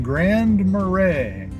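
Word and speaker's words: Grand Marais: All right, ladies and gentlemen, this is Wilson Street in Grand Marray.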